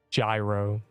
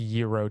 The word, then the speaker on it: gyro: Gyro. It's pronounced yurro technically, but gyro.